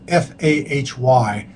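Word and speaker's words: Fahy: diseases and then there's one scientist kindy Nam Fay FH f a y but it's pronounced Fay M um I mean he's he's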